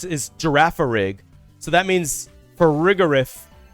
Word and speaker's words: Girafarig: The other one I pronounce is Girafarig.